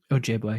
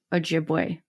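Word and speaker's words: Ojibwe: So, the name Meno comes from the Drai uh word meaning Oji boy. Great. Oh, thank you. I'm going to keep butchering it. You should just say it for me. Ojiway.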